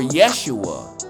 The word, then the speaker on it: Yeshua: But Joshua, or Yahshua, or Yeshua, as it's pronounced, the son of Nun, which standeth before thee, he shall go in thither.